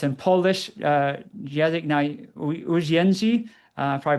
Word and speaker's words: język na uwięzi: It's in Polish, język na uwięzi. Probably butchered that. Język na uwięzi, I think is how you say it in Wow. Polish, which is not at all how it's spelled.